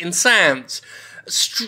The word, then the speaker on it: Insanz: Uh, I believe they meant to call it something like Insanes, but it's spelled Insands, so I'm going to bloody pronounce it insans.